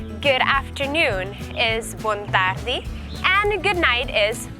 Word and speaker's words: Bontardi: Good morning is bon dia, good afternoon is bon tardi, and good night is bonochi.